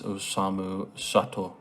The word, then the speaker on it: Osamu Sato: for it um the young man's name is Osamu sat so I know what it is I'm sorry